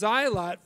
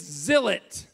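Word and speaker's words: Zilot: is what is a xylot well it's not pronounced xylot Phil look at the cover of the book there's a pronunciation guide well look it's zilet that's what I thought and then he said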